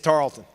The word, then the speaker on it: Tarleton: it drives me crazy drop the e it's Tarlton you're in Texas 260% look